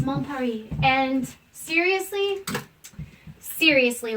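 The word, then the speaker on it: Mon Paris: mom puppy mom it's it's spelled mom Paris but it's mom Perry and seriously seriously like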